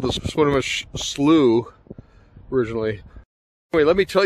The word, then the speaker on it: Swinomish: here we are at le connor on the sonomas channel swinomish channel i guess is how it's properly pronounced and uh let me turn this around